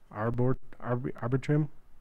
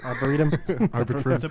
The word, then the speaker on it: Arboretum: How do you say that? Arbitrum. Dallas Arboretum. Arboretum.